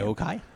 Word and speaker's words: Aoki: It's not pronounced Aoki though, according to what's his name from the stream. He pronounced it differently. Well, that doesn't mean it's necessarily. No, because he asked her about it. Okay. Because he was being corrected all night, and he's like, "No, I asked," and she said, "This is how I pronounce her name." Aokai.